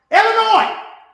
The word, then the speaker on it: Illinois: It's pronounced Illinois.